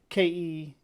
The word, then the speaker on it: Celtic: I think that the proper English is spelled with it's spelled a K in the original language, which denotes that it should have a hard K sound. So Keltic, Celtic.